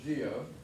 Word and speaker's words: guyot: I know that doesn't look like it. It looks like Guyot, but it's actually pronounced geo.